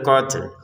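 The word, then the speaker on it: قتل: Akbaru minal qatl. Untuk ini juga sama qatl, lalu lamnya ini kita ucapin tanpa harokat.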